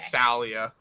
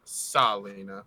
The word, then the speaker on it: Salia: Salia. I think I just pronounced it as Salina, but I'm pronouncing my own bad notes wrong.